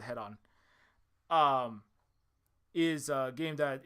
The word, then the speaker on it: Hedon: game um and uh this game uh head-on or I think it's hidden heading it's called different things depending on who's describing it and who's uh pronouncing I think the Creator calls it head-on um is a game